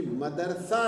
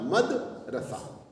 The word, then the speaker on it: مدرسہ: ان کا کہنا ہے کہ مدرسہ لفظ جو ہے وہ تلفظ کے لحاظ سے غلط ہے، کیونکہ یہ اس میں ظرف ہے. اس کو ہونا چاہیے تھا مدرسہ، دال کے اوپر سکون ہونا چاہیے تھا.